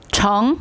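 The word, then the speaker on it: 成: 성, 이를 성자 발음 어떻게 될까요? 정.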